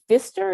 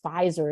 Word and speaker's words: Pfizer: people where i worked they said pfizer or that fister is that that company that makes faucets i'm like no it's pfizer it's a company that